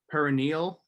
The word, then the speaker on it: perineal: I believe if you're talking about what I think, I believe it's pronounced like perineal, but not having to do get your mind out of the gutter, not having to do with the perineum, Connor.